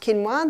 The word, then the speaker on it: quinoa: It's spelt quinoa, but it's pronounced quinoa.